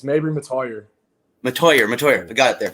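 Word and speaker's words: Mettauer: Okay, Medior. Is that how he pronounced it there? It's Mabry Matoyer.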